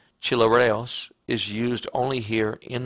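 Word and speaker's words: χλιαρός: than cold or hot the word translated lukewarm pronouncing the Greek chilly rails is used only here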